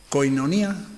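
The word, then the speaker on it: κοινωνία: ¿Koinonía puede ser también? Sí, pero la letra I seguida por la O se pronuncia I.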